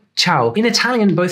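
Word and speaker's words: ciao: see the spelling though it is spelled with a c but pronounced with a CH H chow in Italian both C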